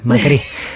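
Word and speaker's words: Macrì: Con un acento en la I. Macri, ese acento con la migración acá se perdió, se lo sacó.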